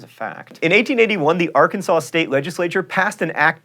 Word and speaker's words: Arkansas: One wanted to be known as the senator from R. Kansas and the other as the senator from Arkansas.